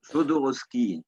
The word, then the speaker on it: Jodorowsky: Je sais pas si tu as vu Psychomagie, ça te parle avec Jodorowsky, je sais pas comment que ça se prononce. Non, Jodorowsky.